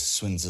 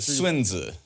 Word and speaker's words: Sun Tzu: You know, I know it's spelled S-U-N. It's a romanization. Everybody says Sun Tzu. That's just how it was written in like the 1800s, the Wade Giles method, or however, when they started to first romanize Chinese.